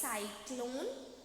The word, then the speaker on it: cyclone: Pencil, ice, cyclone. Again cyclone. In cyclone, the first C is as soft C, and the C that is after Y is pronounced as hard C.